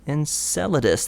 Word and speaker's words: Enceladus: organic molecules being discovered on Saturn's watery moon Enceladus am I pronouncing that right yeah in Enceladus that's right more evidence for organic material and